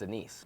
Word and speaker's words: anise: Sugar, star anise, and green anise. You know what I hate is when people pronounce it anis. Please stop.